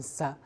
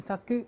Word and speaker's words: 作: 记住了，作的音读呢是有两个，一个是 sagu，一个是 sa，还有就是 sagyo 这个词。